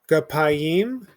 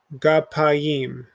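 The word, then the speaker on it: גַּפַּיִם: Gapayim. So with 3 syllables, ga, pa, and then yim. We make the Y sound because the nikud is under it. Gapayim.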